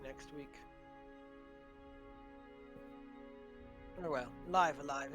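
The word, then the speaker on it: Live A Live: next week oh well live alive is how they tend to pronounce it but i first played it when it was a translation patch for the snes so my brain always reads it live live no yes live alive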